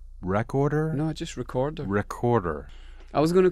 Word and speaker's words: Wreckorder: And is it pronounced Wreckorder? No, just Wreckorder. Wreckorder.